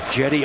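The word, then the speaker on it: Cedi: Jetty Osmond is back in. It's spelled C-E-D-I, Seti, but it's Jetty.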